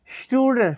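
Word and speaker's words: Student: स्टूडेंट को spelling वही है जर्मन में, लेकिन प्रोनाउंसिएशन मुख्तलिफ है। एस टी जहाँ पे भी आ जाए तो वो श की आवाज़ निकालता है, तो वो आएगा इश बिन स्टूडेंट फोन बैगोफ।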